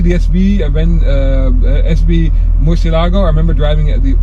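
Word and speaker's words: Murciélago: 2001 to 2 2010 Lamborghini Murcielago mutilago Miss yellow gold depends how you want to pronounce it nah this thing is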